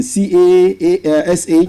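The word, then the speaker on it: cache: Yesterday we looked at cash, as in C-A-S-H and C-A-C-H-E, cash of arm, cash of dollars. The same pronunciation, but different meaning and different spelling.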